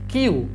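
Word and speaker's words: queue: এটার উচ্চারণ হবে কি এটার উচ্চারণ হবে যে কিউ জাস্ট কিউ ঠিক আছে উচ্চারণ হবে কিউ অর্থ হচ্ছে শাড়ি কিউ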